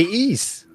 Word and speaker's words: Ys: pronounce that john east they said they they say ease yes yeah yeah they say i think i think that's the proper pronunciation of it but i always just pronounce it as wise they say that